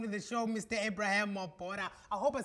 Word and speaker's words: Mobara: Ebrahim Mobara. I hope I said your surname correctly. Yes, it's pronounced correctly, Mobara.